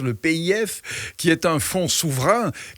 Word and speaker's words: PIF: grâce à un public le pif si on veut le prononcer à la française le pif qui est un fond